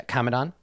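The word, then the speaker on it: Kamadan: Is that how it's pronounced? Yeah, Kamadon.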